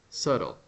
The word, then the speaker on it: subtle: subtle okay it's subtle subtle you don't know this word subtle this is an important word subtle you know SLE right don't say B don't pronounce the b you see subtle subtle